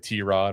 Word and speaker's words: Tyrod: So, it's not Tyrod anymore. It's like T- Rod or something like that.